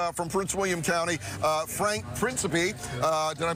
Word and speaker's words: Principe: Joining us this morning is from Prince William County, Frank Principe. Did I pronounce it right?